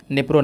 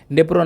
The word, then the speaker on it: Dnipro: निप्रो नदी की जो स्पेलिंग है वो है DNIPRO।